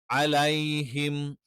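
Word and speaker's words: عَلَيْهِمْ: അതുകൊണ്ട് തന്നെ അലൈഹിം, അലേ എന്ന് എകാരമായിട്ട് ഒരിക്കലും പറയാൻ പാടില്ല.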